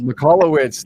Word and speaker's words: Michalowicz: Mikalowicz.